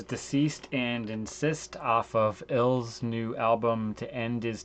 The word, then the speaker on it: ILS: It's pronounced Ills. So the band Ills, their new album is